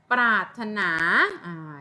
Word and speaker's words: ปรารถนา: เหมือน กัน นะ คะ ปรารถนา ใน เค้า เดือน ไม่ มี เสียง คำ ว่า พราหมณ์ โห